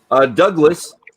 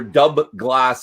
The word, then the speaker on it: Dubh Glas: the dark water and it's pronounced a lot like your middle name Douglas yeah but I think